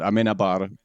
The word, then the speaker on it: Amenábar: I don't think that I've ever heard it spoken out loud by a Spanish-speaking person, but Amenábar would be what I would have pronounced it.